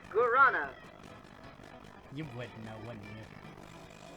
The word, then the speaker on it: guarana: Oh, what is that word? Ravana? I believe it's pronounced Guarana.